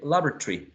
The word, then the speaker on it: laboratory: some speakers would say laboratory laboratory Laboratory some speakers would produce three syllables and not four uh try the following